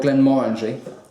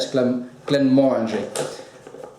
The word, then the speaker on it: Glenmorangie: It's the Glenmorangie, or Glenmorangie, as it should be said, Glenmorangie. I was corrected once by a Scotsman who said I should pronounce it Glenmorangie rather than Glenmorangie.